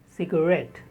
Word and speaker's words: cigarette: Cigarette. The stress on the second syllable, ret.